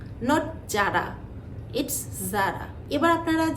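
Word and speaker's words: Zara: এটা অনেকেই বলে থাকেন হারমিস কিন্তু না এটার উচ্চারণটা হবে আর্মিস এটাও একটা ফ্রেঞ্চ ব্র্যান্ড নেক্সট যে ব্র্যান্ডের নাম বলবো সেটা হলো যারা নট যারা ইটস যারা এবার আপনারা যে ব্র্যান্ডের নামটি দেখছেন এটা হচ্ছে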